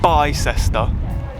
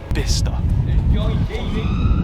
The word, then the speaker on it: Bicester: out isn't there B that's how you pronounce the name of this place not Bicester bister the English language is weird isn't it so